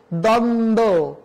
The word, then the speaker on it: দ্বন্দ্ব: সে যে উচ্ছ্বাস, দ্বন্দ্ব, উজ্জ্বল, এখানে কোথাও বয়ের উচ্চারণ হয়নি।